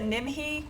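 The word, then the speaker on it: Nimhe: This is In the game they pronounce it nimhi.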